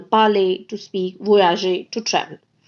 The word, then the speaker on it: parle: Now, I would like to tell you that when we add E or S or ES and ENT, all four of them are silent.